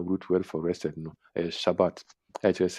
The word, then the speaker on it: Shabbat: to na number H7673 no pronunciation is Shabbat.